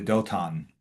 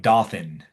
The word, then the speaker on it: Dothan: Um, so this certain man, this maybe this messenger, tells Joseph that his brothers have gone to Dothan. Yeah. Looks like Dothan, but you pronounce it Dothan.